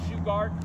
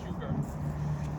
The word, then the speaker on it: Shugart: and for this town some people pronounce shugart but the family uh mainly says sugar and his wife uh